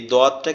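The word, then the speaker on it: ض: এই দোয়াদটা কিভাবে উচ্চারণ হবে? দোয়াদটা আমাদের জিহ্বার গোড়া উপরের মাড়ির দাঁতের সঙ্গে লাগবে, জিহ্বার গোড়া উপরের মাড়ির দাঁতের সঙ্গে।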